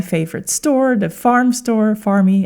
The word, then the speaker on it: Farm: We went to my favorite store, the farm store, farmy as you pronounce it in in Portuguese.